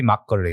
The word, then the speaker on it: makgeolli: that was just normal did it come out makgeolli yeah it should be makgeolli right yes yeah you're closer to yeah that's better but you say you